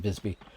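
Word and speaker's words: Wisby: of of visby it's spelled with a W not a v but pronounced Bisby um tons and tons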